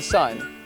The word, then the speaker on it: Sun: The first is just the sun. But actually, in Chinese, it's Sun. But in Chinese, you would pronounce it as He.